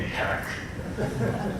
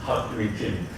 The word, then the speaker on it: Hakim: Some bad guys called me hack. My name is Hawk. Some Arabic students call me Hak. But correct one is Hakim.